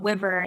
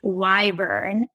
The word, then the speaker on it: Wyvern: We're going to talk about, actually, it's not Wyvern, it's Wyvern. And if you see WYV, it's not pronounced Wiv or Wive, it's pronounced Wyva.